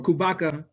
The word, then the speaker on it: Khubaka: title and it's um uh kubatka is or kubaka real quickly it's more of um a a